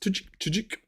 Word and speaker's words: Tudyk: Well, I think, how's it pronounced? Tudyk.